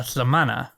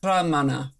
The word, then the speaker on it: lhamana: But, you take the you take your tongue, put it up the roof of your mouth like you're going to pronounce, you know, the sound for the letter L, lha. Lha. But, then instead of making that sound, you just kind of force air around the sides of your tongue.